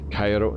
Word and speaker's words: Cairo: 31 000 feet guys 31 000 feet mad Cairo that's how you pronounce it Karina about the cabin crew is